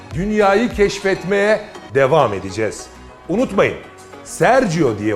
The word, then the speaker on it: Sergio Gürlek: söyleyeceğim ve birlikte dünyayı keşfetmeye devam edeceğiz unutmayın Sergio diye okunur Sergio diye yazılır serginho görmek eşek sergiu